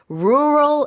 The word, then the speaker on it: rural: 도시와 관련된 그런 지역이고 rural areas 발음이 좀 쉽지 않아요. Very difficult. I still have difficulty pronouncing 네, it. 특히 우리나라에서는 어하고 L Yeah. 구별하기가 쉽지 않은데 Yeah. 다 들어가 있거든요. Yeah.